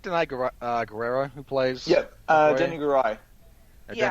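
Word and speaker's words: Danai Gurira: Yep, Denny Garai. Yeah. Denny Garai, sorry. Yeah, thank you. I can never remember how to pronounce her name, so I was a little on the nervous side there.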